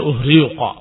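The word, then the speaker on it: أُهْرِيقَ: Tetapi orang-orang Arab membacanya uhriqa. Diganti hamzahnya dengan ha.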